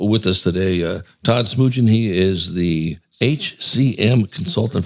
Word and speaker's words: Smoogen: in the studio with us today uh Todd Smoojin. He is the HCM consultant for Pelocity. Am I pronouncing your name correctly?